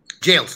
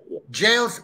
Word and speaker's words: Jayles: name right but it's okay so it's called jails all right so what how is what is the uh absolute correct pronunciation how should i call you jails jails all right all right jails professor jails welcome to the show uh thank